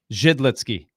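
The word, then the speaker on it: Židlický: of times yeah because technically in the check it's jid jid litsky if you're doing it right jid litzky pick one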